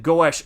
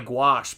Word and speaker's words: gouache: I used to pronounce it goes. Well, that's funny cuz it honestly I didn't know how to pronounce it for a very long time.